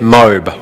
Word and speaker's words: MOBE: I said, no, it's pronounced My Online Business Empire. But they didn't listen. They kept calling it MOBE. So eventually, I gave in and I said, okay, we'll just call it MOBE.